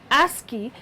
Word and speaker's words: ASCII: the American Standard code for information interchange ASCII pronounced ASI was originally designed as a 7bit code several